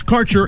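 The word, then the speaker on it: Karcher: Quality cannabis Insurance Services is spelled k a r c h e r that's carer insurance we have worked with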